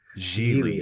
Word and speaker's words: Gigli: So, this year we watched 2003's, and I want to get this right, Gigli. It's pronounced Gigli, like really.